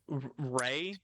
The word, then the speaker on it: Rhea: Ray? Yeah, it's Ray? spelled so weird. I know, but yeah, Ray.